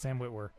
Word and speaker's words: Sam Witwer: Yeah, that's how you say it, Sam Witwer.